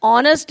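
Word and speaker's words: honest: सब एच से शुरू हो रहे हैं, एच is consonant, but ऑनेस्ट there pronunciation is ऑनेस्ट, honourable, historical.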